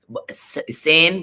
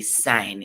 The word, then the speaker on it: sain: I just wanted to put in that the interpreter had said sign, saying, but it's actually sign. It's SAIN, and it's in patois. It's spelled in patois, so it's sign, not saying.